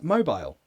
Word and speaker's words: mobile: How do you pronounce mobile? Like a phone. So, British people say mobile. Mobile. Mobile. Mobile. Americans will say mobile.